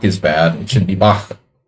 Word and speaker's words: Bach: My pronunciation of Bach is bad. It should be Bach. Sorry, I'm American. and I'm stupid, and we don't have that sound in English.